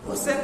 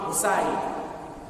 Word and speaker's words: হোসাইন: তা কিন্তু নয় কেননা ইমাম হোসেন নামে আল্লাহর রাসূলের কোন নাতি ছিল না ছিল কি ইমাম হোসাইন তাহলে যারা হাই হোসেন হাই হোসেন বলে আসলে তারা ইমাম হোসাইনের নামটাও কিন্তু শুদ্ধ ভাবে উচ্চারণ করে না আর এই যে কারবালার